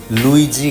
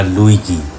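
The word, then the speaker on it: Luigi: বলোনিয়ার বিজ্ঞানীর নাম লুইজি Galvani. আমি ছোটবেলায় ধরতেই পারতাম না নামটা কি লুইজি না লুইগি। জি এর পরে যখন ই এবং আই বসে তখন উচ্চারণটা হবে বর্গীয় জ।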